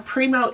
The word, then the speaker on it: Primeau: So, Primo is actually my last name. None of the vowels behave the way they should.